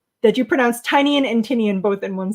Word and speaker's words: Tynion: Whack Comic says he loves that you pronounce Tynion and Tinian both in one sentence. Well, I know it's Tinian, right? Because that was a pronunciation that he put in his own newsletter.